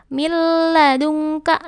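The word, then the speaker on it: مِن لَّدُنكَ: mendengung contoh bacaannya nih nun mati bertemu dengan la caranya Gimana bacanya Bu milladunka kononnya masuk ke huruf lam milladunka milladunka malam ya alam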